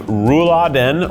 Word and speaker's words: Rouladen: This is beef rouladen or rouladen.